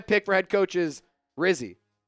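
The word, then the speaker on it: Rizzi: for head coach is Rizzy he said it rhymes with frizzy frzy uh no but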